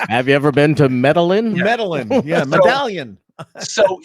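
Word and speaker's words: Medellín: Alex, you mispronounced that with the two L's. It's not Lynn. It's yeah, exactly. Correct. Have you ever been to Medellin?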